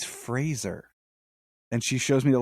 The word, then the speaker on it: Fraser: thing he was like my name is Brendan Fraser like Razer he's like it's always been mispronounced why was like the glass just shattered I was like I've been saying his name wrong all of these years yeah a lot of people pronouns it Frasier yeah and I that's